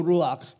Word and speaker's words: Ruach: But all of them mean the Spirit, which is the Ruach. This is the way that it's pronounced in Hebrew, meaning wind or breath of God.